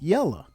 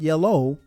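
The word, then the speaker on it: yella: shade you might be called yellow not yellow but yellow ye l l a and if you're particularly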